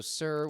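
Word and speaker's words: Suhr: this thing is yes so sir which is spelled su h y su and lit up I can't think su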